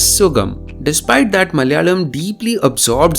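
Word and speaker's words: സുഖം: For example, in the Sanskrit word Sukham, even though Malayalam writes it accurately, Malayalis tend to pronounce this as Sugam.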